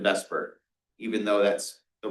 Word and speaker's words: VSEPR: Um, every every class I've ever taken just pronounces it in vesper.